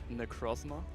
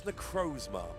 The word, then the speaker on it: Necrozma: exalted so yes um I would say necrosma think it's necrozma I could be wrong